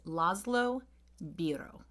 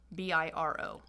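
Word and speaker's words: László Bíró: I think I looked up some phonetic things, and I think his name is Laszlo Biro. Biro.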